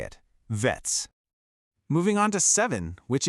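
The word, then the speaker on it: վեց: Six is the word vets. It's a short, crisp vets sound. You'll notice it feels like it just stops suddenly. Let's hear you say it. Vets.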